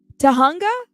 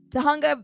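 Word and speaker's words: Tujunga: Okay, so the J is pronounced as an H. Tahunga? Did I say it right, Boxing for Life? Let me know. Tahunga Valley, California.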